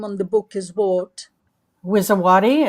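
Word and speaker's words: Wisowaty: Wizawati. It's spelled W I S O W A T Y.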